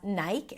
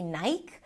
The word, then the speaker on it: Nike: Also, the spelling is deceiving because the e at the end is usually silent. Um, and therefore, people assume that it might be Nike, but in fact, it's pronounced as Nike. Nigh. I as in my, and then E as in C.